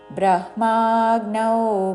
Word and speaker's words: బ్రహ్మాగ్నౌ: బ్రహ్మార్పణం బ్రహ్మహవిర్ బ్రహ్మాగ్నౌ గాకి నావత్తు ఔత్వంతో.